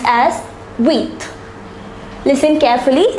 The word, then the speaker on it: huit: The number 8 is pronounced as huit. Listen carefully, it's pronounced as huit.